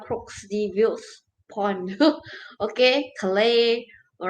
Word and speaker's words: Calais: Okay, Calais. All right, those are those pronunciation. Okay, so France. All right, you have to pronounce it in French.